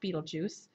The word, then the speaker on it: Betelgeuse: one right here is Betelgeuse there's an other pronunciations but I like that one the best beetlejuice and this is a